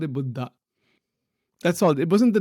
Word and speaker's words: Buddha: you know we say in English we say Buddha and all that those are our ways of pronouncing that but the word is actually pronounced Buddha and all that word means is that the